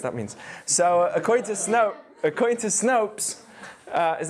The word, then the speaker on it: Snopes: So according to Snopes, is that how you say it?